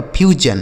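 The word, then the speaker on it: fusion: हो गया फ्यू और एस आई ओ एन का उच्चारण क्या हो गया जन लिखा गया आपका फ्यूजन एन क्या लिखा मेरे दोस्त?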